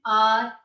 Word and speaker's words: hour: The sound H is silent over here and the sound of vowel O comes here.